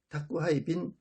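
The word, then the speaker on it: 宅配便: 한국이 택배 해당하는 말은 일본에서는 택배 편 일본식 발음으로 는 다꾸 하이 빙 이라는 바로 를 사용합니다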